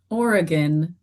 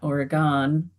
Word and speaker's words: Oregon: you pronounce Oregon, Oregon, not Oregon as I said earlier.